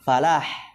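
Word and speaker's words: فلاح: Falah tanpa tasydid ya. Falah, hayya 'alal falah ya. Kalau falah petani ya.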